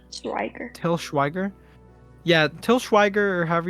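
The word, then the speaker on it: Til Schweiger: Schwager. Still Schwager. Schweiger, Schweiger. Till Schweiger.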